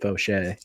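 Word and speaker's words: Faucher: is that is I I believe you pronounce it fosche yeah it is it is fosche yeah yeah he throws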